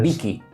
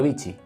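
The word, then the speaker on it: vici: Esa es Vicky Vicky que no bichi no no. A ver, a lo mejor en alguna pronunciación digan bichi, pero es c de casa, o sea, que no hay un H o una cosa así.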